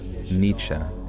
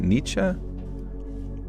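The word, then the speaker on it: Nietzsche: Friedrich Nichze. Is it Nichzea? For as much as I hear that guy's name, you think I would know it by now. Nichze. Oh, that's the German pronunciation.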